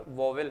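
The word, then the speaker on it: vowel: कुछ लोग प्रोनाउंसिएशन इसका वाउल करते हैं, पर वॉवेल है जो सरलता ढंग से आप समझ पाएं।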